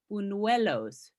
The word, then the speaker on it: buñuelos: it's called, I'll see if I can pronounce it correctly, and otherwise please help me, but they call them buñuelos.